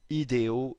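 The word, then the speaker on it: Hideo: rappelez que la personne qui le découverte s'appelle ido Nishimura un astronome professionnel japonais d'origine japonaise et bien son nom s'écrit de cette façonl h I d e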